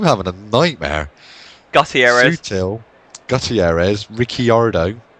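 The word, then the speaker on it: Ricciardo: Su suel I'm having a nightmare Gutierrez Gutierrez rickardo not Ricardo it's riardo Mardo uh Mardo um Bas um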